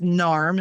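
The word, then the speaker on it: NAMH: can look them up it's narm is how they pronounce it n a MH we'll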